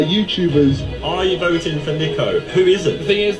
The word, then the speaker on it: Niko: It's Nico, not Nico.